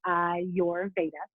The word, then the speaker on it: Ayurveda: it for you is i your that's kind of how you say it i your veda and the easiest way